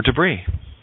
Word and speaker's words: debris: S is silent in island, isle, or debris. T is silent in debut, ballet, and, oh, look at that, castle.